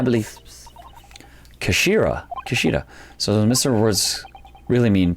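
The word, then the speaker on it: 頭: It's written as Henja, but it's pronounced as Kashira, I believe. Kashira.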